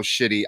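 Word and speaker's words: Schiti: is the always amazing Valerio shitty I love love that's how you say his name that's how you say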